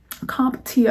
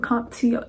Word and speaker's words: CompTIA: Now, there is a class for CompTIA, I believe is how you pronounce it, CompTIA A+, which is what people get for IT.